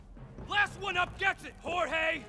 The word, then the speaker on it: Jorge: one up gets it jorge my name's pronounced don't you backtalk me